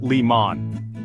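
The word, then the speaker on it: León: last syllable but here the accent mark on the o tells us to stress the last syllable instead so it's pronounced Leon next take the word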